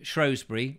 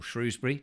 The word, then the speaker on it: Shrewsbury: was up in um shrewsbury or shrewsbury depending on how you want to pronounce it with my friend harriet